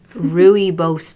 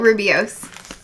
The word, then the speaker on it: rooibos: it's called go-go-go gbeary rooibos tea we go ruh-roh yah yah who knows in ireland things are not pronounced I always thought Rubio's but that makes the eye in the wrong spot oh it's delicious it's